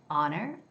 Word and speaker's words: honor: And the word, let's say, honor has no sound for H, okay? It's It's silent H. It's honor. Honor. The sound comes all the way from down here.